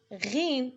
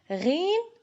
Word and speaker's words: غين: From the back of the throat, the sound is similar to the R found in French, like the letter R.